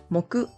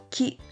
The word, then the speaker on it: 木: For Thursday, the two Japanese pronunciations are moku and ki. Moku can be used in mokuyobi, which is Thursday, and ki for ki no ue. The Chinese pronunciation is mu.